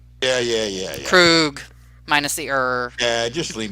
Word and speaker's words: Krug: Just think of him as Freddy Krueger. Yeah. Krug, minus the Yeah, just leave me alone.